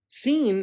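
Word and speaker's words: س: seen and sheen sheen seen as the equivalent to the letter s sheen is equivalent to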